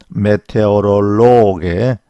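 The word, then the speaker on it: Meteorologe: 그래서 메테오롤로기 그런 사람을 메테오롤로게 메테오롤로긴 이렇게 발음을 합니다.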